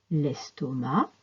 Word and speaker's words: estomac: qu'on ne prononce pas AC se prononce a l'estomac le tabac à la fin des mots